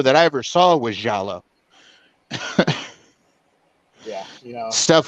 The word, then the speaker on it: giallo: You're talking about giallo flicks? Yeah, and I call them Gallo because as a kid I didn't know how to pronounce them when I first.